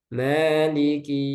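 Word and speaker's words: مَالِكِ: Maliki, ya ini kafnya jangan sampai ke tasdid. Maliki ya. Maliki yau. Nggak sadar ternyata ditasdid kafnya.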